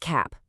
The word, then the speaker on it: cap: Look at cap. That's our classic CVC word with the short A sound.